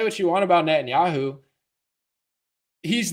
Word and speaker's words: Netanyahu: and you who say it right oh yeah Netanyahu I forgot someone said Andrew claims Jewish is